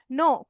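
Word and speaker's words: know: नो के एन ओ डब्ल्यू नो। यहां पे के साइलेंट है।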